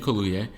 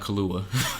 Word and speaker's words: Kaluuya: Daniel Kaluuya, not Kahlua, because that's Yeah, what the white like people, you said it right.